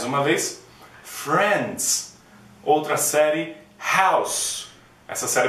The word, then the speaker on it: House: vez Friends outra série House essa série é bem famosa não é House Cuidado com o que você fala House é o mesmo som daquela balinha House OK outra Homeland outro